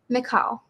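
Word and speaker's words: Mikkal: The actor who plays Teddy, is it Michael? Is that how you say his name? McCall.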